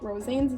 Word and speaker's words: Rosanes: Rosanes? Yeah, that's how you pronounce his last name.